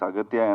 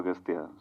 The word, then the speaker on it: Aghathiyaa: It is Aghathiyaa, but in the film your name is pronounced in different ways. Aghathiyaa. Yeah. In both ways it is pronounced. Yeah, it's Aghathiyaa and also Aghathiyaa.